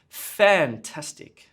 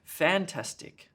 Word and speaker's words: fantastic: robot not a robot what about fantastic fantastic oh that's fantastic that sounds really weird what about helicopter look